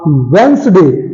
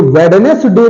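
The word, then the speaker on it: Wednesday: वेडस डे नहीं है ये वेडस डे नहीं है इसे वेनस डे कहते हैं अर्थात डी कहीं कहीं और भी साइलेंट है देखिए वेनस डे वेडनेसडे नहीं वनस डे क्योंकि डी साइलेंट है हैंडसम हैंडसम तो नहीं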